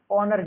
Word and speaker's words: honour: ऑनर शब्द में आपका मूक अक्षर एच है, जबकि इसको HONOUR लिखा जाता, लेकिन इसको पढ़ा ऑनर जाता है।